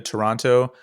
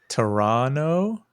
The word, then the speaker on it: Toronto: do the subers also don't pronounce the second T So harshly Toronto Toronto Toronto Toronto Toronto Toronto